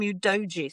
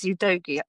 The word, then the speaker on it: Udogie: I had to look up how to pronounce Udogie the last night because I started calling him Udogie thinking it was, you know, the right thing to say, but it is Udogie.